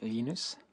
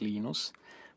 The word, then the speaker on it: Linus: I speak Swedish it's lus when I speak Finnish it's lenus when I speak English it's lonus and I really don't